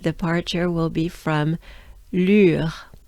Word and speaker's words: Lure: Let's start by the sound U, U, U. Funny French sound, I'm sure. So to pronounce the sound U, you want to make a droopy face.